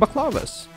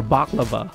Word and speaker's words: baklava: an amazing baklava or baklava i think i think i mispronounced that one too instead of baklava i think it's baklava there you go it's also